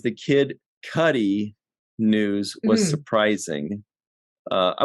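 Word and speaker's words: Kid Cudi: ruining my orange joke and he says it's pronounced kid Cuddy not cutie it kind of sounds like poop I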